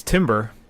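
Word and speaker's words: Timbre: It's Timber. Like the it's music. Actually, yeah, it's a musical term.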